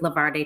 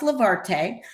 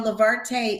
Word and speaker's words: Levarte: what's been happening in the past year with Levar day travel okay um it's pronounced levarte and I'll just say that real quick you know levarte is e-travel spelled backwards so it's always a